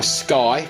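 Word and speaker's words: SCCY: gun other ways the worst this is my sky pronounced SCC why um it's a fairly lightweight gun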